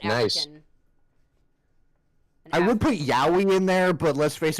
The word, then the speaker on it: Yowie: was like, "Are you sure that's how it's pronounced? It sounds like hentai." It's Yowie, guys.